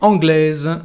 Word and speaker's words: anglaise: Ma mère est anglaise. Ma mère est anglaise. You can hear the sound here like Z or Z.